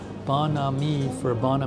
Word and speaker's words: bon ami: Oh, Barla V says Beau and me pronounced bon ami for a female friend.